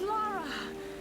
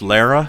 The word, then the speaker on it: Lara: Sam, it's Laura. Oh God, Laura. It's good to hear your voice. Pronounced Lara, thanks.